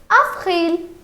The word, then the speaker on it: avril: The pronunciation here is Avril.